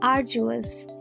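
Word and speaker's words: arduous: আরজুয়াস, এখানে ডি এর উচ্চারণটি আসবে না, তার বদলে আমরা জি এর উচ্চারণ করব। তাহলে এটার প্রোনাউন্সিয়েশন কি হবে? আরজুয়াস।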